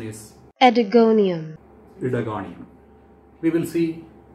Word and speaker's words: Oedogonium: thickness and the organism is predating the correct pronunciation is adigonium lithogonium we will see its habitat habit morphology